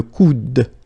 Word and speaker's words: coude: Okay, and then the second one here is le coude. Okay, remember, you don't insist on this final E, it only gives you the sound of D at the end.